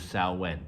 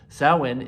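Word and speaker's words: Samhain: evolution of an old Pagan Festival known as salwan it's spelled s-a-m-h-a-i-n and I have another video on my channel if you'd like to learn more about that sowen is the midpoint between the Autumn Equinox and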